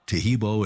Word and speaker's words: Taheebo: Taheebo is spelled T like Tom, A-H-E-E-B like boy, O, then continue with the word tea and then the word club.